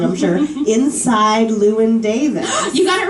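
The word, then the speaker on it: Llewyn: a fantastic movie called and i'm going to pronounce it wrong i'm sure inside lewin davis you got it right i did yeah i was saying llewellyn yeah a lot of people say llewellyn but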